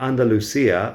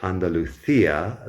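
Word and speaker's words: Andalucía: But that's just the regular way of pronouncing things. I think in Andalusia, or you could say Andalucia, they don't pronounce the lisp.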